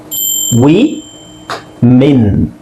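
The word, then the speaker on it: women: ಇದು ವುಮೆನ್ ಮತ್ತೆ ಅದನ್ನೇ ವುಮೆನ್ ಅಂತಾನೆ ಹೇಳ್ತಾರೆ ವಿಚ್ ಇಸ್ ಆಲ್ಸೋ ರಾಂಗ್ ಇದನ್ನ ನೀವು ವಿ ಮೆನ್ ಮೀ ಮೀ ಯೂಸ್ ಮಾಡಬೇಕು ಇಲ್ಲಿ ಓಕೆ ಇಂಗ್ಲಿಷ್ ಡಿಕ್ಷನರಿಲ್ಲಿ ನೀವು ಅದರ ಉಚ್ಚಾರಣೆ ನೋಡಿದ್ರೆ ಹಾಗೆ ಇರುತ್ತೆ ವಿಮೆನ್ ವಿಮೆನ್ ಅಲ್ಲ ವಿಮೆನ್ ವುಮನ್ ವಿಮೆನ್ ವೂ ವುಮನ್ ವಿಮೆನ್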